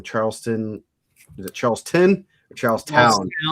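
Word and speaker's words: Charlestown: Is it Charleston or Charles Town? Town. Town. to make sure I can pronounce because I I never uh can pronounce Coridan.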